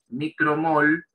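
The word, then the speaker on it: µmol: micro mol fíjense está esta letra griega en mi cara se lo pronuncia micro si micro mol por litro si lo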